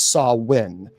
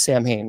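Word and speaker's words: Samhain: Uh it's officially pronounced as sawin. Uh some people say it's Sam Hayne that well we saw that on on the Halloween movie they pronounce it as um Sam Sam Hayne.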